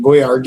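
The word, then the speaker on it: Boyardee: So they just because everybody kept pronouncing it wrong or something, they made it boy RD or something instead.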